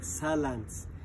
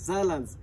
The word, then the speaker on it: Saarland: So in Swahili maybe we say it's like Saarland. But so the proper pronunciation is Saarland.